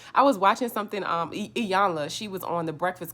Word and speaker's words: Iyanla: was watching something um iyanla she was on the breakfast club and you need to say her name right it's not ayana anyway she was saying